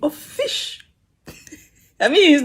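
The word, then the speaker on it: ghoti: Essentially, the gh is from the word enough as in how it's pronounced in enough, you know, tough and all that.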